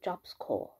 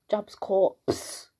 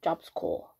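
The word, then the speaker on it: Job Corps: to do it's called jobs core in the UK we would pronounce IT jobs corpse corpse c o r PS yeah in America they call it jobs core don't ask me why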